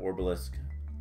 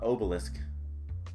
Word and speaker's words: obelisk: anything good there ooh a dark orbelisk uh obelisk Obelisk it's just pronounced obelisk everything's orbs in this but this is actually just an obelisk and if I can